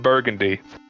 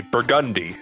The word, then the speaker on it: Burgundy: of the Duke of Burgundy or actually Burgundi is how it's pronounced.